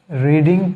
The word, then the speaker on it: read: इसका बराबर है, लेकिन sound in past and past participle form इसका साउंड रेड होता है, तो इसलिए यहाँ पर भी इसका साउंड होगा रेड।